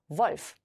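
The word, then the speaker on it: Wolf: 단어 한번 읽어 볼게요 volf WF 이번에는 자음이 두 개 따라왔기 때문에 짧게 읽으시면 되겠죠 그래서이 는요 주의하셔야 될 점이 V 발음이 난다라는 거 꼭 기억해 주세요 그다음에 어 스라는 알파벳이었습니다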